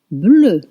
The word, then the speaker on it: bleu: Bleu, bleu, blue, blue, bleu. Pronunciation won't change if it's feminine.